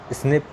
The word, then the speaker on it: SNP: SNP which is pronounce S स्निप stand for, इसका मतलब क्या होता है SNP का?